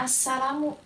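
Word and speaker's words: السلام: Syamsiyah ini ada tasdidnya Jadi dibacanya asalamu gam ya lamnya itu tidak dibaca jadi langsung Assalamu ini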